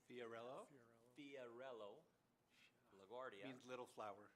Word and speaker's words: Fiorello: Fiorello Fiorello, LaGuardia.